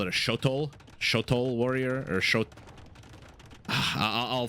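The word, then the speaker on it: Xolotl: to call it a shotol shotol warrior or shot I'll figure out the name at some point it'll come to me but I think the x is pronounced like an sh and now a second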